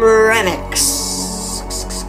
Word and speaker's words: Remix: I'm Remix. And yes, that is how you pronounce Remix as in my name and not the remix as in the word.